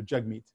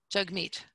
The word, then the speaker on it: Jagmeet: more vigilant about this my name is pronounced jug like hug so arises hug and meet like we meet each other so jug meet jug meet you got it now